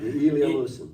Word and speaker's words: Ilya Musin: the Leningrad School of Conducting and its founder, Ilya Musin? Is that how you say it? Yeah. Ilya Musin.